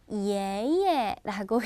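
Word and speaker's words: 爷爷: 자, 할아버지는 바로 예예라고 얘기합니다.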